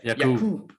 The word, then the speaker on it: Yaqub: We call him Jakob, but in the book he pronounces it as Yaqub.